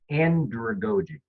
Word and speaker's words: andragogy: really worked for me, andragogy. Andragogy. I have to say it like pedagogy, and then it comes out right.